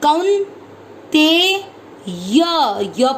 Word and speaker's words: कौन्तेय: क पर है औ की मात्रा, तो इसको पढ़ेंगे कौ, आधा न। कौन ते य पूरा, य में अ मिक्स करेंगे, कौन ते य।